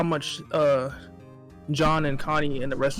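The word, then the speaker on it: Jean: wish we had the other interactions with like john that's how you say his name and connie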